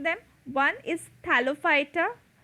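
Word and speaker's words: Thallophyta: pronouncing them one is thalophyta phyta is pronounced as fighter thalophyta bryophyta and pteridophyta in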